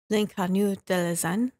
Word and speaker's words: L'Inconnu de la Seine: In an episode of the Criminal podcast focusing on L'Inconnu de la Seine.